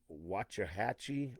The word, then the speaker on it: Waxahachie: Now, C10 America is going to be out this weekend, and they're going to be in Waxahachie, I think.